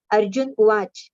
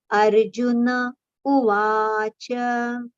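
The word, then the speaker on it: अर्जुन उवाच: Over here, Arjuna. No is with a complete pronunciation. It should not be Arjun Uvach. No, no is complete. Cha is also with a complete pronunciation. So, Arjuna Uvacha.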